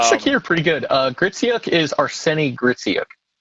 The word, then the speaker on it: Arseniy Gritsyuk: Gritsyuk is Arseniy Gritsyuk. Arseniy Gritsyuk. Okay. Yep. Yeah, after the Vukojevic disaster that I said his name wrong during his interview, I think that I'm